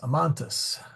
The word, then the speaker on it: amantis: say amans amantas so I take the vowel which is a long a because this is first conjugation and I have amans amantis okay and let's see